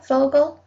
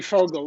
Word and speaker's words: Vogel: name right for vogel vogel probably if you said in germany to be fogle like within f oh yeah okay okay